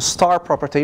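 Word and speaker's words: *-property: So there's the principle of no read-up, which is also the simple security property, and there's the star, it's pronounced as a star property, which says no write-down.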